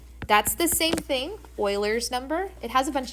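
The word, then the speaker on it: Euler: stuff online and they call it Oiler number which is spelled like this that's the same thing Oilers number it has a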